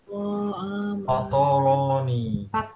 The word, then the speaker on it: فطرني: فطرني فطرني فطرني ফতরনি হ্যাঁ, فطرني ফা ফা ফায়ের সাথে ত, আমি ফা তা বলি নাই, ফা ত র, ফতরনি হ্যাঁ, ফাতরনি। فطرني فطرني ফতরনি হ্যাঁ, তার মানে এই যখন ত উচ্চারণ করছি তখন আমি এটাকে বলছি না যে ত। মুখটা খুলছি না, মুখটা গোল করে ফেলছি।